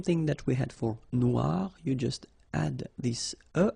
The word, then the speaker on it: noir: don't pronounce it okay so phonetically it is exactly the same Noir Noir Okay g don't pronounce